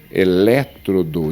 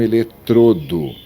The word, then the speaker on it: elétrodo: Elétrodo e não eletrodo.